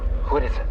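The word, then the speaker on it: курица: Kuritsa.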